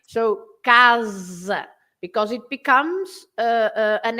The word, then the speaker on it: casa: But in Portuguese, although the word is written the same, you pronounce the S as a Z sound, right? So casa, because it becomes an S between two vowels.